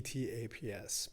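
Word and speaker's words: TTAPS: these activists listed their names spell t ta PS pronounced taps the bugle call proclaiming lights at earth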